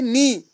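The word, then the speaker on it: know: मिसाल के लिए यहाँ है नी, हम किनी नहीं पढ़ते हैं, के यहाँ साइलेंट रहता है।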